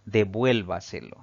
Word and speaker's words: devuélvase: sin importar su terminación tenemos la palabra devuélvase si separamos en sílabas esta palabra tiene cinco sílabas al pronunciarla nos damos cuenta que la mayor fuerza de voz recae en la sílaba llamada antes de la antepenúltima contando de derecha izquierda eso la convierte en una palabra sobreesdrújula y siempre debe llevar tilde tenemos la palabra lógicamente